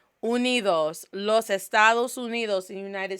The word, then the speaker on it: Unidos: So right now in Los Estados Unidos, say it with me, Los Estados Unidos, not Unidos. Unidos, Los Estados Unidos, the United States.